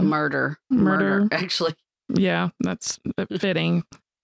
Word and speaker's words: Murdaugh: Their name is spelled, it's Scottish, I guess. M-U-R-D-A-U-G-H. But I think it's murder.